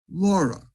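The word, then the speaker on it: LoRa: transmission signal called and here's the pronunciation laura it's for long range and it uses the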